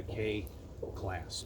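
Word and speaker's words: kei class: But going back to the whole K-truck thing, this is called a K class or a K truck. In Japan, it's spelled K-E-I, and they're a classification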